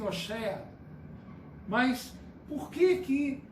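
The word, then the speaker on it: הושע: Em hebraico fala-se Oshea.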